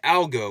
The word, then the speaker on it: algo: the second syllable in algo was going to be pronounced differently, right? I needed a different vowel sound for algo than I did for algorithm.